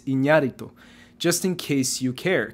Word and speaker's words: Iñárritu: Fernando Moreno says the Spanish pronunciation is Iñárritu.